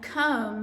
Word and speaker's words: comb: has the silent K thumb and comb have the silent B guide has a silent